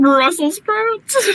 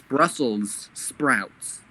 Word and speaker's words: Brussels sprouts: brussel brussels just freaking brussel sprouts no you spell it as if it belongs to brussels it's brussels sprouts when somebody just died